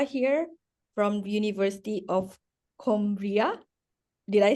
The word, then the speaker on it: Coimbra: And then we will have Alexandra here from the University of Coimbra. Did I say it correctly? Wait, Coimbra.